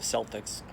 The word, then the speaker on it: Celtics: don't know why they call the team the celtics not celtics but that's how it's pronounced for the sports team now i was